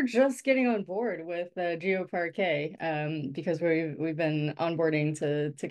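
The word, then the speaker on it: GeoParquet: the web, and how, it's pronounced GeoPar K, how we can simplify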